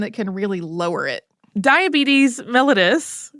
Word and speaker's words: diabetes mellitus: can really lower it diabetes mellitus which you may have heard pronounced a different way I certainly had up to this point but that is correct is a group